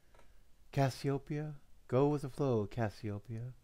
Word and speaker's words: Cassiopeia: Echoes through my Cosmos Copa and copia are two different soundings I mean do you recognize that do you recognize how you say it Copa and I'm saying copia do you see the difference or hear the difference like you can't see